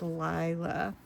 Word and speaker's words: Lila: I always thought, well, maybe it's Lila. But I believe she said I was saying it right, and it's Lila.